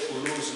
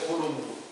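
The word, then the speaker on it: Coulomb: he formulated a law, so we say Kulu's law. He's a French, so you don't say Kulumbu. That is for Masoro. French will not pronounce the last name Kulu.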